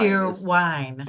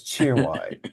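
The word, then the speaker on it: Cheerwine: I like cheer wine cheer wine is exactly how it's spelled okay cheer wine it's cheer wine okay chan chan I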